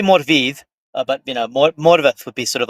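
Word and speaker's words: Morfydd: No, no one pronounces her name correctly. Murford Clark. Morith.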